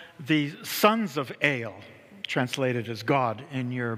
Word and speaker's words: El: We pronounce it El, not El, but El. Okay? It's a long kind of E.